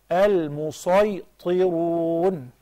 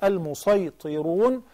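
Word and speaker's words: المسيطرون: long with four counts, then you pronounce it as regular sad. You say al-musaytirun. In any case, al-musaytirun, plural of musaytir, a person who is dominator.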